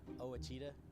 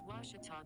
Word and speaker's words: Ouachita: tiger volleyball after this i've heard people say oh a cheetah oh wichita oh a cheetah back in texas everybody pronounces it wichita but really it's ouachita washington washington how would you pronounce it it's washita baptist university get it right it's watertall people